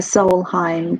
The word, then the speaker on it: Solheim: The Solheim Cup.